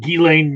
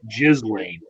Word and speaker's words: Ghislaine: It's Jeffrey Epstein and Ghislaine Maxwell. It's not like Paul was pronouncing it Ghislaine, although I can understand that might be a porn name for somebody going forward.